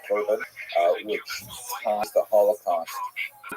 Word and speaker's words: korban: Several other terms are in some usage among Orthodox Jews, particularly generation, they tend to use the Hebrew term korban, which we pronounce the Ashkenazi pronunciation korban, which ties the Holocaust